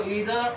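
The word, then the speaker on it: either: ये आइदर और नाइदर नोर बोलते हैं, ये गलत प्रोनाउंसिएशन है, तो क्या बोलेंगे इसको, ईदर और नीदर नोर से जुड़े हुए सिंगुलर सब्जेक्ट से ध्यान रखना है।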